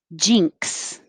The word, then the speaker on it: jinx: a chew ritual jinx it's just a single syllable this this is a good example of i put here that the letter x if it's at the end of a word represents the sounds k and x together like box so your tongue stops the airflow and then releases it with an s box jinx reversal reversal